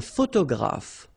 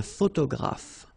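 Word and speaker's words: photographe: two letters so okay a all right a photograph so here and here pronounce it like f f pH graph okay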